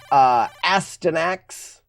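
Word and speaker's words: Astyanax: Yeah, this is called Astanax. Some people pronounce it Astinax. I pronounce it Astanax.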